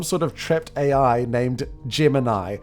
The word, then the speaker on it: Gemini: The Green Lantern makes a cricket-like noise, and it's some sort of trapped AI named Gemini, which when you use Italian pronunciation, sounds like Jiminy.